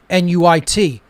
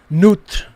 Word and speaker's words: Nuit: or nuit as well nuit newt nuit different pronunciations of it but it represents that